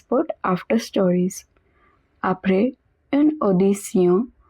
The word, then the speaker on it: audition: Après une audition, remember Tion is pronounced as Sion.